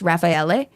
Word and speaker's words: Raffaele: would never fucking know it, it should be pronounced Raffaele.